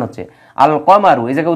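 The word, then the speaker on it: القمر: কিছু কিছু হরফ আছে যাদের পূর্বে আলিফ লাম আসলে আলিফ লাম উচ্চারিত হয় যেমন আল কমারু এই যে দেখেন কমারু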